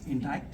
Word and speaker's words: indict: I said okay if we are guilty the judge will indict us and she was like that's not the pronunciation it's intact us and you know I was caught then I just uh had to switch and said that's how it sounds in my accent okay and now um